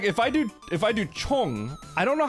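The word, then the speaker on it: 총: Chong. That means gun. Chong. So it's like C-H-O-N-G, except the O is O.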